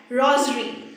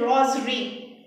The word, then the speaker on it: rosary: But in pronunciation we say it like that. Rosary. It seems to be Z. But here's the word S. This thing to be noted is rosary.